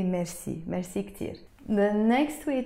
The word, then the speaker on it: merci: but also you notice we don't say it like the French people say it usually like this Maxie no we say the Lebanese French way merci merci Pierre of course